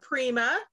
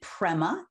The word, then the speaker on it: Prema: and today we have Prima Prima how do you say your last name it's actually Prema and it's pra Prema and you just